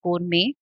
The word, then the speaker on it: gourmet: So while it is written as gourmet, there's a t at the end. It's pronounced gourmet.